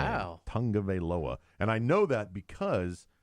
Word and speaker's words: Tagovailoa: Is that how you really say his name? That's how you say his last name. Wow. Tagovailoa.